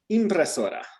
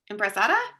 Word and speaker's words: impresora: It's with an impression. Impresada? Very close. Impresora.